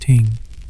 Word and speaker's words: Thing: The word Thing, pronounced ting, actually means assembly or meeting, and it was a fundamental institution in Norse society.